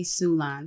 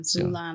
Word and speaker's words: Sulan: Sulan. Sulan like Mulan.